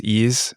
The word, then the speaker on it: Ys: This is Ease from 2006. It's spelled like YS, but it's actually named after or the name